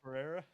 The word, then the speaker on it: Pereira: Everson Pereira.